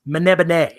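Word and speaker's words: Melniboné: you look at that written out it looks like it says Elric of melmer Bane as where he's from but the author claimed to someone that it's pronounced mana been a and it doesn't even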